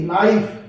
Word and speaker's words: knife: अगर N से पहले K आ जाए तो K साइलेंट रहेगा। जैसे KNEE नी। KNIFE नाइफ।